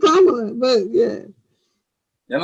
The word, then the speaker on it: Kamala: Just Kamala.